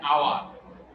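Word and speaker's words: hour: এখানে হয়েছে এন, এন আওয়ার। এইচ এর উচ্চারণ নেই, পরের উচ্চারণটা আসছে আওয়ার, তার মানে ও এর উচ্চারণটা আসছে সেজন্য এন, তার মানে ও তো ভাওয়েল, ভাওয়েলের উচ্চারণটা আসছে সেজন্য এন।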